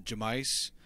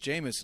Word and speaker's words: Jameis: of the woodwork, and I kept calling him Jamice, and Pete kept telling me, like Josh, it's pronounced Jameis, and I would just refuse. Like, for his whole rookie season, he was Jamice to nobody but me.